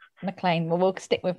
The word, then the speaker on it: McLean: it, because there's so many different ways of pronouncing and saying it. But for me, it's Mclean. Mclean. Well, we'll stick with Mclean.